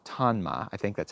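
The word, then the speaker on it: Tonma: made by a brand a Japanese brand called tanma I think that's how you say it t-o-n-m-a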